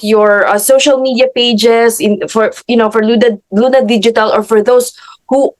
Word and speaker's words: LVNA: Luna Digital, just like Jamie mentioned, it's letter V, like victory. So it's spelled like LVNA Digital.